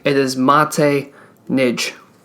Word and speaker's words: Maté: He has an accent on the E. It is Maté Nagy.